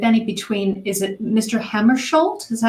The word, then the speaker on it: Hammarskjöld: Hammarskjöld? Is that how you pronounce it?